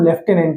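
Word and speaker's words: lieutenant: तो याद रखिएगा यहां पे देखिए दूर-दूर तक इसमें फ की कोई साउंड नहीं है। लेकिन जब हम इसका उच्चारण लिखते हैं इसकी प्रोनंसिएशन पे काम करते हैं तो इसकी जो साउंड होती है वो लेफ्टिनेंट होती है।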